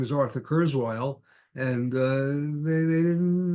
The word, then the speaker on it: Kurzweil: up Curts Wilds although when you started to call people and you said curtz wild they didn't know who you were because you were pronouncing the name differently than they would pronounce it back in galitzia yeah that's right I